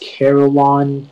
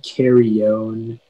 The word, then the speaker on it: carillon: the information yeah so it can be pronounced carillon caroline carry on carrion or carillion it's a set of